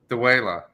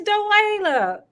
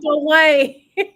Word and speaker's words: Dua: Dua. He said it right. It's DeWa. Not Dwayne.